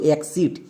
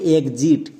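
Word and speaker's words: exit: একে অনেকে ভুল করে উচ্চারণ করছো এক্সিট, এক্সিট উচ্চারণ করা চলবে না, এর উচ্চারণটা হবে একজিট।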